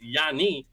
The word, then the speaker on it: Giannis: and I'm fighting it's Yanni. The S is silent, but the last name is Antetokounmpo.